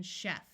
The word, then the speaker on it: chef: in this word and the third sound is sh like in Chef GH is silent most